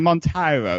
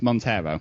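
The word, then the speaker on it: Monteiro: who pronounced what wrong you said mono it's Montero oh I'm so sorry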